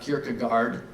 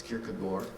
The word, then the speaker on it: Kierkegaard: from Soren Kierkegaard and we learned how to pronounce that correctly it's not Kierkegaard it's good boy and the phrase was